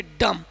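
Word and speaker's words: dumb: Rule यही कह रहा है कि एम के बाद अगर बी हो तो बी का उच्चारण नहीं किया जाता है। जैसे इसको डुम नहीं पढ़ेंगे क्योंकि यहां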